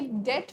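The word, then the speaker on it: debt: अच्छा students, I hope you understand कि ये डेट प्रोनाउंस होता है ना कि डेब्ट प्रोनाउंस होता है, right? Because B is silent over here, just like डाउट में साइलेंट होता है, डेटर्स में साइलेंट होता है, जिधर बी इज साइलेंट है।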